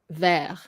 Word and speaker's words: vert: to remember it's actually ver. So even though there's no accent, but it's just the way it's said, you just have to know that this is pronounced ver, and you don't do the T.